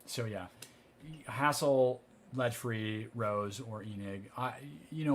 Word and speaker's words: RoHS: of hazardous substances directed rohs pronounced rose always do lead free